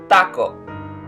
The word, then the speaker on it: taco: Spanish does not have this rule in their language, and thus would pronounce the famous Mexican food as taco.